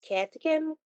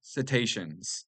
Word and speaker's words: cetaceans: Catechins. I'm actually says I think it's pronounced cetaceans, but Oh, okay.